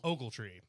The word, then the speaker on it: Ogletree: Ogle or Ogle? It's Ogle. Ogletree. But everybody says Ogle, and yeah. There's some people do pronounce it Og or Og.